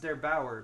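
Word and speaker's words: der8auer: is won yesterday by, I believe his name is pronounced Der Bauer, but I hope I'm not wrong about that.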